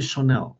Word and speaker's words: Chanel: Ini Chanel bacanya. Kalau ini adalah channel.